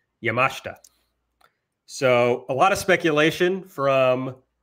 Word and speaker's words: Yamashita: Antonio Honda and Miyu Yamashita. You know, I say that name all the time, and I just said it wrong. It's Yamashita.